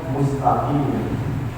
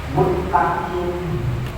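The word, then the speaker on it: مُسْتَقِيم: pada bukan tempatnya nah contohnya kalimatnya mustaqim ternyata dia bacnya muttaqim diigongkan itu P itu bukan dibaca Ong tapi dia baca Ong Nah itu namanya di atau sebagai hukumumid dia harusnya diembaca mustai eh dibacanya muttaqi nah Nah maka itu salah bacanya Kemudian yang kedua termasa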